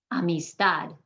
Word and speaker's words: amistad: some examples of that amistad i'm hitting that last syllable harder than the rest any exceptions to those